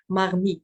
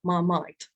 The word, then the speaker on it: Marmite: for the English pronunciation so this is why she used Mar meat instead of marmite oops now for the